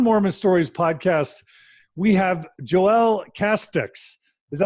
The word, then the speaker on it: Joelle Casteix: And you guys are in for a treat because for the first time ever on Mormon Stories podcast, we have Joelle Casteix. Is that how I pronounce it, Joelle?